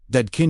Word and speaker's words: Dadkein: The word for today's journey is Dadkein, pronounced Dadkein, meaning pure, transparent, cleansed of distortion.